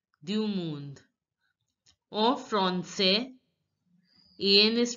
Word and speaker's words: français: En français. AN is pronounced as en. En français. S is the last letter S is not pronounced. And AI is pronounced as grave accent E. So it becomes français.